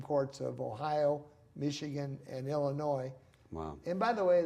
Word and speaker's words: Illinois: So I've always dropped the S. Now it's just straight Illinois.